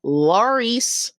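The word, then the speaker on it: Larys: So, the crippled guy that you keep referring to, his name is Laurice Strong. It rhymes with Varys, by the way.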